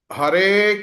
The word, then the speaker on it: ಹರೆ: ರಾಮೋ ರಾಮ ಅಥವಾ ರಾ ಹರೆ ಹೇಳಬೇಕಾದರೆ ಹರೇ ದೀರ್ಘ ಅಲ್ಲ ಹರೆ ಹರೆ ಹರೆ ಹರೆ ಹರೆ